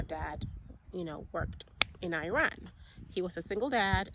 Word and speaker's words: Iran: duty in Iran and we say Iran in Ghana and Americans say Iran so he was assigned